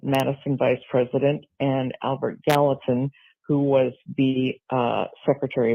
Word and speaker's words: Gallatin: And um, the river, I believe you pronounced it Galatian, which is a book in the Bible. Um, and actually it's Gallatin.